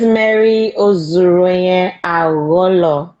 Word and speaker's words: Mary Ozuruonye Agholor: Yes, my name is Mary Ozuruonye Agholor.